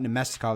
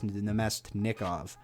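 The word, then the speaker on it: Namestnikov: So it's not Nemestikov, it's Nemestnikov. Okay, so I'll remember that for next time I do a video like this.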